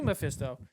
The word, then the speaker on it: Mephisto: It's definitely Meisto.